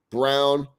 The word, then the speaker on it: Braun: I want to make sure it's Brown. It's Brown like B-R-O-W-N, but it's spelled Braun.